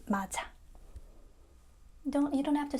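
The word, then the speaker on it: 맞아: We just connect to the vowel, so it becomes mad ayo.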